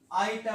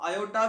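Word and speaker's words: iota: दे बेटे ये आई आईटा होता है। यहाँ पे बेटे ओ साइलेंट है, ओ नहीं बोला जाएगा, आईटा बोला जाएगा। आप आयोटा भी बोल सकते हो, आयोटा, ठीक है।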